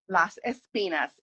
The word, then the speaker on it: Las Espinas: So my rosé, and you're gonna give me the pronunciation. Las Uh, Espinas. Las Espinas.